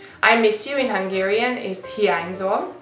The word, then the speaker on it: hiányzol: And you say the N and the Y. That's one letter. So to pronounce it, think about like saying New York. I know a lot of people say different, like someone say New York, like N, and someone would say N, New York.